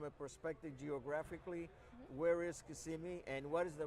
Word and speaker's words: Kissimmee: perspective geographically where is kissimmee and what is the right way to say it too yeah it's kissimmee not kissimmee we're not kissing anyone over there maybe i don't know